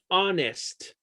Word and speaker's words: honest: Because the H is silent in some situations. Hour, for example. Honest.